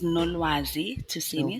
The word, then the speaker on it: Nolwazi Tusini: First of all, let's start with what does that beautiful name mean and how do I pronounce it properly? Okay, cool. My name is Nazisi Tini.